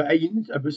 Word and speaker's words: ayin: Alors, le ain elle se prononce on a dit voilà c'est une lettre silencieuse.